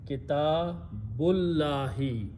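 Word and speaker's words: كتاب الله: Then we have to read them together, and when we read them together, we do not pronounce this zabar on the alif, so we remove this one. So now it is kitabullahi.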